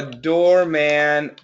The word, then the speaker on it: doorman: is door man and this is door men so it's a short a and this is a short e so if the American